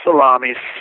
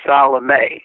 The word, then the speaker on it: Salame: I'm saying it right no Sal not salami salame salame I said it like the sandwi people need to understand